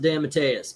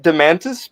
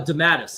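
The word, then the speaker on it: DeMatteis: I I pronounce it Damantis because I believe that's how I've heard it said before. Damantis. There's no N in it. It it's it it damat Dantis. Oh, Damatis.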